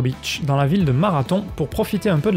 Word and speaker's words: Marathon: Le nom de Marathon, que je devrais d'ailleurs prononcer Marathon, vient du fait qu'à l'époque